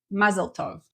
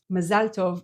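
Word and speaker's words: מזל טוב: oer next is ma that you probably say mazeltov mazalov is our way of saying congratulations and also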